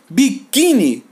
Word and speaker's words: biquíni: e assim por diante biquíni sílaba tônica é a penúltima essa que s bahn